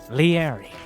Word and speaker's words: Liereyy: is none other than the easily pronounced and absolutely no question this is how you pronounce it leery spawning as the best